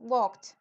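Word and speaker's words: walked: por último waled entonces Esto va una k y una t juntas waled Prácticamente la lengua va como en la punta de los dientes waled muy bien waled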